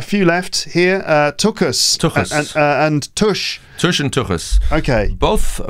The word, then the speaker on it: tush: But tush is more easy. like push, just tush.